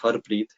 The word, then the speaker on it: Harpreet: So my name is Harpreet, which is pronounced Harpreet.